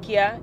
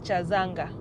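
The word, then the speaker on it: Kyazanga: Apparently any pronunciation of K-Y-A is not Kia, it is Cha. So it is Chazanga.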